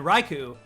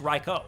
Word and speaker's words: Raikou: uh to me it used to be suicune entei and raiku uh the entire time but i know now that it's reiko and i actually i